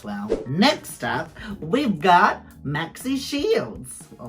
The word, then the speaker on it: Maxi Shield: Or Maxi Shield. I love how you say it differently. Rue's been saying it Maxi Shield. And I find it really weird her putting the emphasis on the Maxi, because then that's literally what it is.